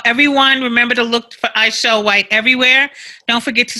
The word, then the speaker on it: Aichelle: Sometimes it's spelled MGMT, but it's still Aisharai Artist Management. And I am Aichelle, AICHELLE, White, everywhere.